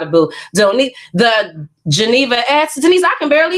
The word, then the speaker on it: Geneva: when people ask me I say my name is Geneva Geneva like the Lake Geneva like Switzerland Jenni would like to